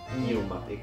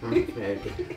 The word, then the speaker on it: pneumatic: Letter that you don't I say think so it's pneumatic. Pneumatic.